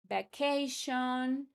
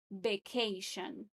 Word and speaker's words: vacation: Careful with the pronunciation for this. Some of my students say vacation. It is vacation. Vacation.